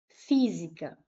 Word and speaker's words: física: Física. Vou separar em sílabas. Física última, penúltima, a antipenúltima é a mais forte.